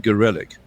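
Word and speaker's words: Gorelick: Jamie gorick I think she prefers for obvious reasons to pronounce her name gelic I like to think of it as glic I mean I don't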